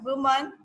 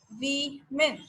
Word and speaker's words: women: That is women. Okay, that is not woman, it's women. WAMIN. You'll have to pronounce it women. Okay, so don't say woman, that's women.